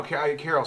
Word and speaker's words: Karel: No, Carol sounds like it's It's spelled Karel.